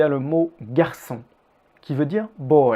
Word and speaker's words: garçon: anglais notez aussi comme le r d'un garçon est à peine prononcée et vous pouvez presque le sauter nous y reviendrons plus